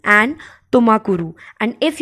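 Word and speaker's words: ತುಮಕೂರು: बहुत easy according to मी, एक बार आप प्रोनाउंस करके देख लेंगे आप लोग को बहुत इजी लगेंगे, that is Chikka मागलुरु and Tumakuru. I'm repeating again, Chikka मागलुरु and Tumakuru.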